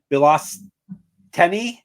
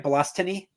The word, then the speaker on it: Bilostenniy: Bilostenniy? Yep. From Russia, yeah. Mother Bilostenniy. From Brother Russia. Boy, it's going to be a good episode. All right. So I'll remember it rhymes with colostomy.